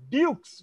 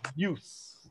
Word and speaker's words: Dukes: cricket balls it was dukes bu ke apostrophe s Butte of Great Britain and Dukes was mispronounced in India as juice well Dan Patrick family